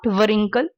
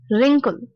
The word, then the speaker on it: wrinkle: a music next word this wrinkle not varenka wrinkle wrinkle is the line in